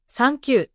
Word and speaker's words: サンキュー: The English TH does not exist and is replaced with sagyo or zagyo sounds. Thank you becomes sankyu.